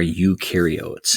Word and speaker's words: eukaryote: in the sunflower are eukaryotes. And eu rhymes with do.